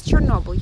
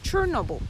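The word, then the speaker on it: Chornobyl: So the usual name we can hear everywhere is Chernobyl, yeah? But the correct name is Chernobyl.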